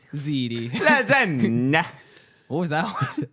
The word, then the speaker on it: ziti: Zite. That's not how you say it. Zite. Ziti.